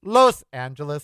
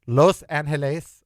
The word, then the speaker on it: Los Angeles: It is Los Angeles or Los Angeles. It is not Los. It is not laws. It's Los, like toast. Los.